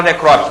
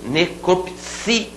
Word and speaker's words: necropsia: muita gente no concurso todo mundo fala necrópsia não fala vamos falar certinho necropsia cel batô esse si necropsia rubrica e não